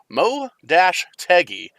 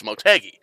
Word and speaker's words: Motegi: we wrap up qualifying it's mo dash teggy and i guess the dash is silent so it's motegi twin wing motegi is